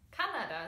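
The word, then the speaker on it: Kanada: then your country house Canada yes Canada is how you say it in German so yeah it come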